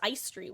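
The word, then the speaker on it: Aestri: Uh and then Sable entered the playing field and now Tall elf lady whose name is pronounced Ice Street, which I know because I looked it up.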